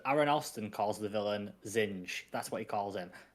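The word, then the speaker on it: Zsinj: Zinja. Yeah, because of the way it's spelled, people say it so many different ways. But I think Aaron Alston said Zinj, so that's what I'm going to say from now on, because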